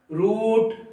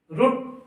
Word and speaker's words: root: रूट नहीं है, रूट। मैंने आप लोगों को क्या बताया कि DKT, जिस भी वर्ड का आखिरी लेटर DKT पर खत्म होता है उसका प्रोनाउंसिएशन छोटा उ का होता है।